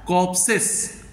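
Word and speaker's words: corpse: आर पी एस एस य are silent रहता है कॉप्स कॉप्स आर नहीं बोला जाता कॉप्स ए लॉट ऑफ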